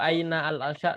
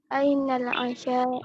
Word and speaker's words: أين العشاء: Nanti kalau ada alif lam cara bacanya lebih bagus disambung ya. Jadi nggak perlu aina al asya tapi langsung. Jadi gimana kalau disambung? Ainal asya.